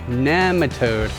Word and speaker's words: nematode: 3 in the series Cover Crops to Kill Nematodes. It's pronounced nematode. I've heard it pronounced both ways, and I've always pronounced it this way. I know, but soil biologist Dr. Elaine Ingham pronounces it nematode.